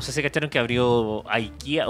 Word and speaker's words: IKEA: Oye, y se supone que la cosa está mala, pero no sé si cacharon que abrió IKEA o IKEA, IKEA.